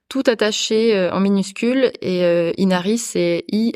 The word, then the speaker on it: Inari: le refuge d'Inari tout attaché en minuscule et Inari c'est i n a ri voilà comme ça se prononce mais voilà si vousir des infos sur